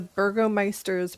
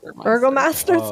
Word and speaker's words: Burgomaster's: Yeah, so we went back to the Burgomeister's mansion. Burgermeister? How do you say that? Burgomeister's mansion? Burgomaster's mansion. I'm disappointed.